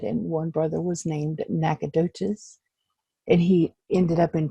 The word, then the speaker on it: Nacogdoches: And she lives in some place in Texas that I'm sure she's going to pronounce for me. Nacogdoches, Texas.